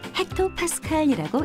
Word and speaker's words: hPa: 기압은 HPa라고 쓰고 헥토파스칼이라고 읽습니다.